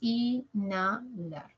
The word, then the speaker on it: inhalar: luego la la colocas cuando tú haces de cuenta que no está la H qué ocurre te quedas con la n entre la vocal I y la vocal a no inhalar Entonces qué haces con la n cuando está entre dos vocales pasa a silabar con la segunda con la porque la H no cuenta es como si no estuviese un fantasma ya la n pasa con la segunda entonces Decimos inalar lo mismo en desheredar